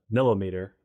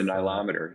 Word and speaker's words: nilometer: us a story the the millimeter uh story uh oh the nilometer yeah yeah yeah totally butchered that yeah that pronunciation talk about that because